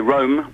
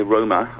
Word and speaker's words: Rome: and we we say Rome. We don't put the A on the end. We don't say Roma or um we certainly don't say Roma.